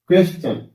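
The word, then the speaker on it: question: टी आई ओ ए क्वेश्चन क्या हो गया क्वेश्चन च हो गया ऐसे पिक्चर पिक्चर होया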